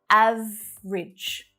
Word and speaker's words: average: Much more common to hear average. 2 syllables only.